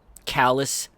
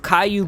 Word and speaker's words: Caillou: callous midnight snack. They pronounced Caillou wrong in that sentence.